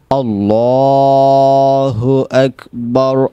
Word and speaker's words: আল্লাহু আকবার: এরপর দেখেন আল্লাহ, লামটাকে ফুল করবেন, আল্লাহু আকবার, আল্লাহু আকবার।